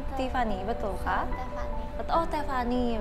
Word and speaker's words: Thefani: Oh, Tiffany bacanya.